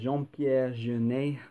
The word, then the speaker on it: Jean-Pierre Jeunet: So Jean-Pierre Jeunet, I think that's how it would be pronounced. They're not going to pronounce the T on the end, I don't think, in France.